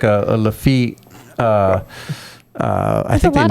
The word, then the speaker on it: Lafitte: Lafitte.